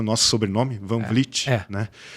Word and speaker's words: Van Vliet: Eh, o a nossa marca sempre foi o nosso sobrenome, Vanvlit, né? E eu senti um pouco um pouco na questão da pronúncia um pouco difícil, pessoal falava anvliete, então a gente tinha que soletrar sempre.